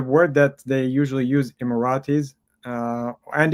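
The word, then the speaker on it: إماراتي: that they usually use immiratis uh and in Arabic you say immirati Iirati and one person still I immirati the the the plural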